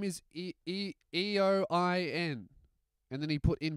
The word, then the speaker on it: Eoin: Hey, my name is E-O-I-N. And then he put in brackets Owen. No, it's not. Your name's not Owen, mate. It's spelt E-O-I-N. Your name's Your name's fucking Eoin.